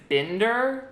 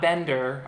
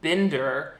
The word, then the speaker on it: Binder: Also, just so I can prepare you, Shane's name in this movie is Binder, not Bender, although they kind of say it like Bender. It's pronounced Binder and spelled like binder.